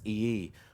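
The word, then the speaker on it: Iyi: His last name is pronounced E-E, which is spelled I-Y-I.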